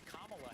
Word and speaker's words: Kamala: I think that she also wanted to make sure she took the time to introduce herself to former President Trump as Kamala Harris, which is how you actually pronounce her name.